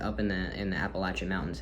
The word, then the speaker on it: Appalachia: And it is Appalachia, by the way. If you say Appalachia, you're a northerner. You're a Yank. And I'm also a Yank, but I know how to say it. It's Appalachia.